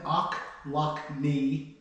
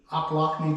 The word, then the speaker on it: Ochlocknee: in O lockne Georgia akne it's spelled o c h l o c k or l o c k NE e e akne Georgia it reminds me like ouch I lock my knee so it's a